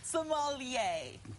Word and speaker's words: sommelier: with the most asked question how do you pronounce s o f f e l i e r Somalia perfect that works but in the end but